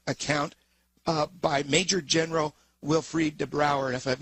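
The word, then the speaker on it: Wilfried De Brouwer: Uh, and you devote a lot of time to this particular account uh, by Major General Wilfried Debrower. And if I've mispronounced it uh, please feel free to correct me.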